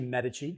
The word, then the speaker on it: Medici: do you pronounce that so it's actually Medici medicine you know look look I already messed it up we come from Florence